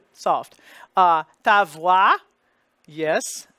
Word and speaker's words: voix: The V becomes, stays the V, and the O-I spelling, those two letters together equal wa, W-A, glide plus the I. And the X in this case is silent because there's no word that follows it that begins with a vowel that would have a liaison.